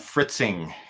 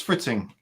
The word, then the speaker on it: Fritzing: PCB design software do you use it's called fritzing Uh I think that's how you pronounced it f r i t z i